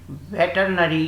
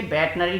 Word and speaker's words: veterinary: Okay, and last question है question number 29, वेटरनरी की क्या स्पेलिंग होती है। देखिए वेटनरी नहीं कहते बल्कि वेटरनरी कहते हैं। तो वेटरनरी की स्पेलिंग होती है VETERINARY, वेटरनरी, वेटरनरी इस टाइप से इसको प्रोनाउंस करते हैं।